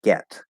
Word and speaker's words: get: words in the language, the fully enunciated way to pronounce the word is with the third vowel, get. However, this is more often than not pronounced like this with the second vowel, get. So even though it's stressed, it's almost always reduced.